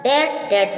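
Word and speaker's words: debt: Com means कंगा, इसमें भी silent है। लेम मीन्स मेमना। डम मीन्स गूंगा। डेट means सिरण।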